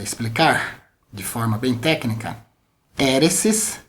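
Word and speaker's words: αἵρεσις: Novo Testamento você já aprendeu que é essa pronúncia do grego né para heresia heresis nós temos essa palavra em Atos 5:17 no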